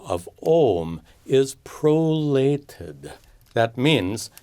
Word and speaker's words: Om: Om is simply pronounced Om.